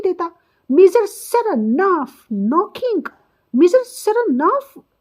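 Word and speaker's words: Saranoff: He pronounces the name with the stress on the second syllable, सरनाफ।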